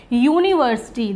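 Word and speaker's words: university: एन का यूज करेंगे यूनिवर्सिटी देखिए यहां पे यू तो लिखा हुआ है बट यूनिवर्सिटी हम कैसे लिखते हैं ये और ये जो या आता है ये किस में आता है कंसोनेंट में आता है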